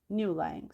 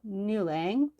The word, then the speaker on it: Niulang: comes down to earth and marries a cowherd, Niulang. So that word name is spelled Niulang, in case you want to look it up, look up the story and learn more about it.